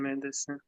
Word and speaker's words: medicine: because this is not the stressed syllable, right? This is the Mhm. stressed syllable. We hear meh. Okay, meh. Medicine. This sin. Mm, So we hear these two medicine. syllables. This one gets reduced. So we don't hear medicine. It's not medicine. It's medicine. Meta. Da, da, da, da, da. Right? So it's reduced.